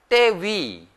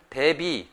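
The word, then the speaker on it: ទេវី: 또 왕비라고 하는 말을 떼위 이런 말을 하는데 한국 분들이 이거를 발음을 대비 이렇게 표현하는 경우도 있는데 대비가 아니라 떼위 이렇게 표현을 해야 됩니다.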